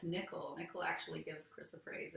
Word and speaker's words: chrysoprase: So chrysoprase. Am I saying that right? Yes, you are saying it right.